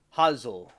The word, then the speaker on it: Hansel: My name's Hansel and it's a it's a German name. It's pronounced in German huzzle like kind of like hazel.